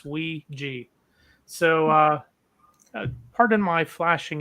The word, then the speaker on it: Ouija: look up on Google that is the correct pronunciation it's wi G so uh pardon my